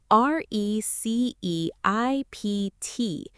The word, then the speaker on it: receipt: r e c e i p t. This word has a silent letter. Yes, the p is completely silent. We say receipt.